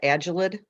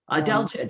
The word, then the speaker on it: adelgid: I'm not going to pronounce it right, the agelid. Adelgid, yes, adelgid.